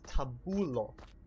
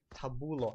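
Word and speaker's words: tabulo: word for that is tabul now it sounds similar to Tabo but it's got an sound in it tabul and I'll actually do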